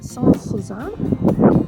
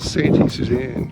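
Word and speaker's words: Sainte-Suzanne: We'll actually have it written up, so it's spelt S-A-I-N-T-E, which is Sant, and Suzanne, as in S-U-Z-A-N-N-E. So Saint-Suzanne, and it's not Santi Suzanne. it's not Santi Susan or Suzanne.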